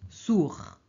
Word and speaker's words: sourd: sotto s sord ok en français on prononce pas le D hein on prononce Sour et au féminin sourde ok alors la phrase